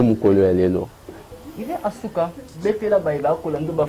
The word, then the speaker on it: Asuka: le monde bayiba Kasuka linga bana musique carrière na ye atambula boni alikana ba groupe boni ti lilo za wapi to Kasuka vivre non. Tu prononces mal mon nom, c'est Asuka. Asuka.